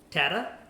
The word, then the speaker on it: Tatta: we are interviewing Tata who just won the scgcon Columbus after having a dominating weekend and it is Tata not t Tata I've been trying to